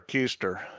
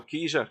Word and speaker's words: Keyser: for gas in there is it Keyser or a keister no Kiza k-e-y-s-e-r that's that's how